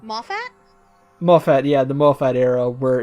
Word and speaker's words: Moffat: It's like watching a modern season of Doctor Who during the how do you pronounce his name? Moffat? Moffat, yeah, the Moffat era, where it's just like, we're implying something important will happen, but will it?